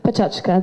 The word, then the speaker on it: Pecha Kucha: Some people pronounce it Pecha Kucha, others Pechachka. But if you could read this tiny print here, you would say that it says, for advanced learners, Pechachka. I'm advanced enough to pronounce it Pechachka.